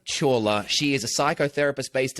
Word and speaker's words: Chawla: The traditional pronunciation is Chawla, but Chawla. Chola is a good anglicized one.